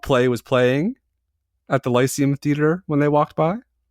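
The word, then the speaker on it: Lyceum: The Lucium Lysium Theater. Lysium. Famous theater. Lysium. Like the lice like bed bugs and head lice.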